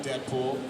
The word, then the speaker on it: Deadpool: And here's a clip of Deadpool and Ultimate Spider-Man. A Kung Fu Fiesta! Arriba-san! Double wedgie achievement unlocked. Dang, Skippy! Where are my manners? Introductions! Call me Deadpool. It rhymes with no school.